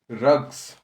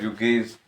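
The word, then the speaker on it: rugae: रग्स, कोई कोई इसको प्रोनाउंस करता है रुगेज, तो अपन रग्स या फिर रुगेज जैसे भी आपको सुटेबल लगे।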